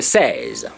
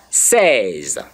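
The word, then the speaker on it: seize: The next letter is the says, says, says, says.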